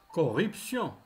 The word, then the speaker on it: corruption: Corruption. Corruption. Le T se prononce C.